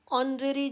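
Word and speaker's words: honorary: ऑनरेरी जॉब, H silent है, तो अगला जो वर्ड है, जो लेटर है, दैट इज़ वॉवल। तो यहाँ पर भी एन ऑनरेरी जॉब।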